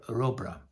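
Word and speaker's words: Rubbra: they interview him and they speak about it rubra so I would prefer rubra but even the daughter of bernard Stevens I spoke with her this she she told me that people speak it pronounce it in a different in different ways.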